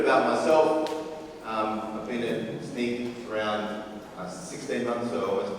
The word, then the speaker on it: Snyk: For the record, it's pronounced Snyk, like your sneakers.